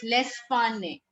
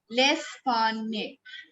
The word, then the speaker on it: L'Espagne: It becomes L'Espagne. Again, this G is silent. L'Espagne.